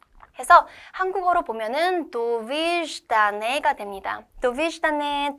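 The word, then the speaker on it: Довиждане: 발음입니다. 해서 한국어로 보면은 도v다네가 됩니다. 도비다네.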